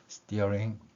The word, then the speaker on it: steering: S 뒤에 T가 있기 때문에 쌍디귿 발음이 납니다. 따라서 맨 아랫부분에서 볼 수 있듯이 steering 이 발음을 표현할 수 있는 것이죠.